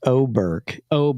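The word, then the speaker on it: Åberg: On the 18th, which by the way is pronounced Oberg.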